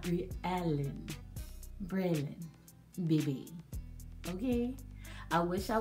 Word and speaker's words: Braylon: She was like, girl, that is not how you pronounce Braylon's name, baby. It's Briallen, not Briallen. Braylon, baby.